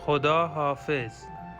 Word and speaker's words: خدا حافظ: This is the pronunciation. Khoda Hafiz.